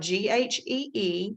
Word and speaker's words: ghee: just a second coconut oil ghee butter spelled g-h-e-e and pronounced ghee butter and zero calorie cooking spray